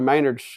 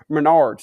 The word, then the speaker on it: Menards: I was walking through Maynard's going to buy my pizza and we bumped into each other in the plywood aisle, but that ain't how it happened. Menards, that's how you say it.